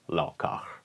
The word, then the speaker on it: laukaz: think, if instead we pronounce it like in the times of the late Scandinavian Iron Age, the so-called Viking Age, so therefore Laukaz.